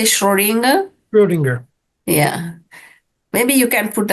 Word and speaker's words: Schrödinger: Schrödinger.